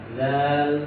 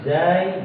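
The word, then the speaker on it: زاي: Untuk pengucapan huruf zai boleh kita katakan zai, boleh kita katakan za. Ya. Karena dia dinisbahkan disandingkan dengan ra, za. Jadi ucapannya mirip, ya, ra, za.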